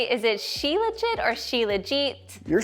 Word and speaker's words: Shilajit: Right, but if we had an Ayurvedic practitioner here, like a friend of mine, she would say, no, it's definitely Shilajit.